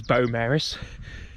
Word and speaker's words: Beaumaris: I have to say if you're from bone Maris hopefully I'm not butchering the pronunciation this week um but I was told it was Beau Maris if you live in